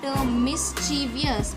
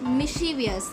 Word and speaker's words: mischievous: some people pronounce it mischievous, but it does not sound like that chi. It is she. So you have to say it mischievous.